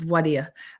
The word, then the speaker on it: voir dire: it properly, because there's a whole lot of mispronunciation of voir dire in the world. It's voir dire.